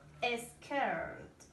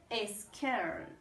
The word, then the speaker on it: scared: Scared. Asustado se dice scared. The pronunciation here is scared. Asustado o asustada se dice scared. Scared. With the D at the end, con la D al final.